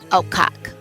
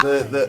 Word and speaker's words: Okap: pronounce these, you got to emphasize the second half.